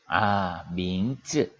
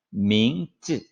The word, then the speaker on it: 名字: 민즈. 자, 쯔는요, 뒤에 아이가 모음이지만은 성조가 없어요. 그러면 가볍게 그냥 쯔 하면 돼요. Z 발음만 하면 되는 거예요. 민즈.